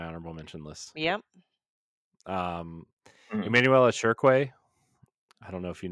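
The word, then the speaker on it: Chriqui: That's how she said it in an interview. So that's I never knew how to say it until she said it in an interview. So I always thought it was Creequy, Creequy or something like that.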